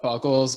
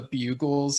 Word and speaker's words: Buggles: And one of them mentioned the Buggles, but mispronounced it as the Bugles. And so, so like in the voice channel, I was like, wait, don't you mean the Buggles?